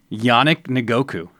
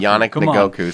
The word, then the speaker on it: Yannick Ngakoue: I want to see if you can pronounce his name. Calais Campbell. No, this one right here. Yannick Ngakoue. Good job. Hey, I know my stuff. Yannick Ngakoue.